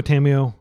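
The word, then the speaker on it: Tamiyo: got we got one Tomo main deck and one uh sideboard um Tomo tamamo uh I I just use the Japanese pronunciation because she's from the kamigawa um plane uh and then you've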